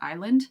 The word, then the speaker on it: island: they started to just put silent Latin letters in like the word Deb or Island for example that's where